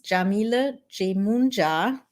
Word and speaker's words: Yamile Yemoonyah: For those of you who are new here, my name is Yamile Yemoonyah. That's how you pronounce it.